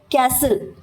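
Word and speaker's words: castle: listen listen फिर कैसल कैसल यानी जो भव्य इमारतें दुर्ग वगैरह होते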